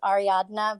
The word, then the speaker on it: Ariadna: know you guys uh everyone has a problem pronouncing my name it's ariadna but you can call me Ari if it's easier oh so sorry no